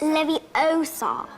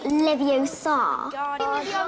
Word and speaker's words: Leviosa: someone's eye out besides you're saying it wrong it's Lev Oar not leviar bardian Leviosa